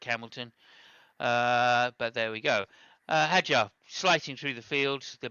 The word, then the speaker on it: Hadjar: He needs to extend on the session, and then Hadjar making up places all the way. That's the correct pronunciation.